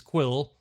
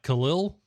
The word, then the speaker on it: Kuiil: So his name is Quill. I've been pronouncing it wrong this entire time because I was like, Khalil? Yes, because it's spelled Kuiil. Kind of interesting spelling to get the name Quill, but sure.